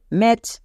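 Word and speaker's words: match: জন্য কো তাহলে ক্যাচ একই রকম ভাবে এম এ মা আর টি সি এইচ এর জন্য চো তাহলে ম্যাচ ম্যাচ বুঝতে পারছো ব্যাচ ক্যাচ ম্যাচ এখানে একটাও টি এর উচ্চারণ হচ্ছে না কারণ টি টা সাইলেন্ট লেটার তোমরা সবাই জানো সি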